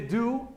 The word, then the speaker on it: do: y it o que la pronunciación de este simplemente du y este no es